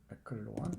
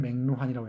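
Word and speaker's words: McLuhan: 맥클루언이라고 요즘 발음해요. 맥클루한. 옛날에는 맥루한이라고 했었는데, 마셜 맥루한의 책 미디어의 이해, 이건 미디어학의 고전입니다.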